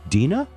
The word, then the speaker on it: Deana: uh oh I'm getting into told that she pronounces it is it Deena ah ok I get that right this song